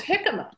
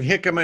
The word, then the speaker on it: jicama: if anybody is wondering jicama is not spelled with an h it's spelled with a j j i c a m a but we you know